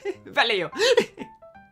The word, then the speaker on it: Vallejo: Someone's laughed at me before for mispronouncing Vallejo. Vallejo.